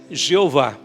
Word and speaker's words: Jeová: Então colocaram algumas vogais entre as consoantes e ficou aquilo que muitos já conhecem, a pronúncia Javé ou Iavé, também era uma pronúncia aceitável, e a pronúncia que muitos mais conhecem, Jeová.